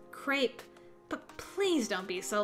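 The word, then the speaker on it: crêpe: That crap place is up ahead! Crepe, Enoch. It's pronounced crepe, but please don't be so loud.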